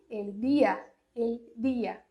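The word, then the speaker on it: día: E não é assim que se pronuncia o D no espanhol. É di, el dia.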